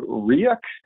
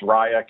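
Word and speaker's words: Ryuk: So this particular ransomware was called RIAC. Again, another pronunciation challenge for me. I've heard it pronounced RIAC as well as RIAC. It's a Japanese word that means death note.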